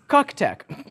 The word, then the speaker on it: CUKTECH: you about our sponsor ctech apparently it's pronounced c tech C Tech offers Quality